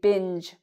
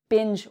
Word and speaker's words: binge: It's a J sound. So it's not a hard G. It's a soft G. We say binge, binge watch.